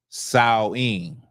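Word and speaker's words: Samhain: So, Halloween, as y'all know, Halloween is uh Sam Hayne. Now, the way it would have been pronounced is sawing. Okay, sawing. But because I don't feel like doing all that, we're just going to say Sam Hayne.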